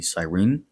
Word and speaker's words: Cyrene: In the 5th century BC, the Greek colony of Cyrene, that would be Cyrene, grew really wealthy by